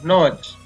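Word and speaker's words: notch: तो इस देखा आपने कि इन शब्दों में जो टी है उसके बाद CH है, इसलिए टी का उच्चारण है वो नहीं किया जाता है, इसको नहीं पढ़ा जाता है।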